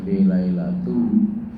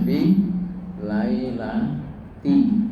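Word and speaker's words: فِي لَيْلَةِ: Inna anzalnahu kan inna anzalnahu f di situ juga ada fi kank kadang bisa juga kalau model hafalan bisa juga fi lailatu ya padahal pasti harusnya bacanya fi lailati ya karena ada huruf fi ya ini hanya tama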